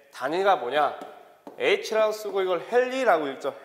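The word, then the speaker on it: ヘンリー: H라고 쓰고 이걸 헨리라고 읽죠. 헨리.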